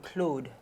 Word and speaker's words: Claude: a tall beginner ah well in French you would say clued clued however that's a difficult thing for an Anglo Saxons new tongue to get itself around